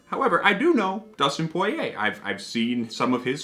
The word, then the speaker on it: Poirier: mentioned this is dustin poirier's bourbon i i believe that's how you pronounce his name like that's the original french pronunciation of course dustin poirier